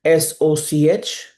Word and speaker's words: सोच: In English, you can spell it like SOCH. In Hindi, which I prefer, it is Sa, O, or Cha, Soch.